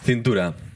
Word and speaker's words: cintura: Das ist, genau, mein Cintura ist meine Hüfte sozusagen. Ja, und wie spricht man das richtig aus? Cintura.